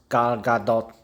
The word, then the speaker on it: Gal Gadot: Her name is pronounced Gal Gadot.